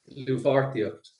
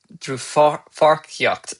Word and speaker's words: Dlúthpháirtíocht: How do you pronounce that for those who are not Irish? Dlúthpháirtíocht. Dlúthpháirtíocht.